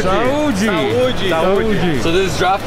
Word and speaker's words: saúde: Saúde. Saúde. Saúde.